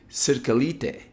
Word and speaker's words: Cirkelyte: I'm so sorry, I butchered your last name. Cirkelyte.